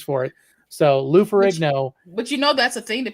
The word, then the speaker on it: Ferrigno: Lou Ferrigino, I just said his name wrong. You did, but I love it. Yeah. I'm gonna say it like that from now on. It's over. Lou Ferrigno.